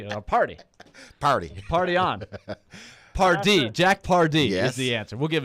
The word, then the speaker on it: Pardee: was it Jack Hardy did you say Jack party that's how they say it down here in Tennessee a party party on party Jack Pardee that's the answer we'll